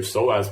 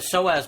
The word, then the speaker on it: psoas: The psoas muscle, if people try Googling it, it's spelt pretty funny. I think it starts with a P, right?